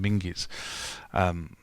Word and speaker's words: Menzies: We used to have a newspaper chain in this country called John Menzies, and everyone calls it John Menzies, but I think it was actually properly pronounced as John Minges.